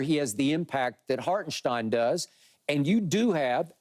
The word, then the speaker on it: Hartenstein: and to your point hartenstein is how it's supposed to be pronounced okay hartenstein they're not